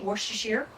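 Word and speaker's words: Worcestershire: which I learned that that is the correct way to say wor sheer well at least from my Brit friends and they came over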